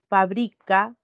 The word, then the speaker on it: fabrica: Entonces, cuando nosotros pronunciamos, chicos, estas palabras, inmediatamente podemos reconocer dónde recae la mayor fuerza de voz, en cuál de sus sílabas. Tenemos, por ejemplo, fabrica y fábrica.